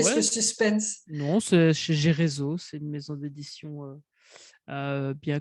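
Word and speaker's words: Gereso: non, c'est chez Gérézo, c'est une maison d'édition bien connue dans le domaine des livres de coaching et de formation. Donc Gérézo, ça s'écrit G-E-R-E-S-O, tout simplement.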